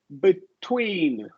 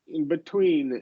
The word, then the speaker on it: between: Now here, between. Between. Okay. Yeah. Between. Yeah. We're stressing it. That syllable is stressed. So we do release the T there.